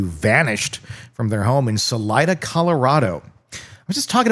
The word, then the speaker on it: Salida: Salida. S A L I D A. Really? See, I would have totally pronounced it the other way.